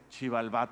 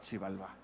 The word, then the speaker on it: Xibalbá: Y para decir lugar de los muertos decían, eso se lee shib, porque se invierte la sílaba, en vez de shibi se lee shib. Y de ahí viene la palabra maya para el inframundo, para el Mictlán, que es Xibalbá.